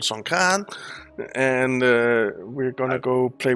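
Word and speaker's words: Songkran: holiday next week uh son kran and they always laugh at me when i say it out here because i say it wrong but it's called son khan and we're gonna go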